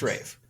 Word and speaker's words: Ralph: like yeah that actor Rafe finds no that's how I've always heard I've always heard it pronounced Rafe always it's no I